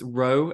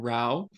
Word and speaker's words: Rowe: little uh side note it's row and not Rao um but no problem